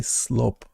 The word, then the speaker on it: slop: So, slope. S L O P. Ah, slop.